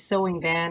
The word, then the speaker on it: Tho Vinh: so my name is sewing van it's a vietnamese written t-h-o-v-i-n-h cantonese pronounced name and i live at